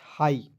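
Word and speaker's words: high: ठीक है, जहाँ तक दोस्तों छोटी ई का प्रोनाउंसिएशन है मैं वहाँ तक आपको उच्चारण करके बता दे रहा हूँ। एच आई जी एच, हाई।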